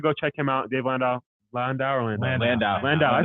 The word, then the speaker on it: Landau: Landau.